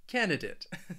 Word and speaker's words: candidate: a d and others may say it with a dit candidate I say it more with a dit candidate candidate and well what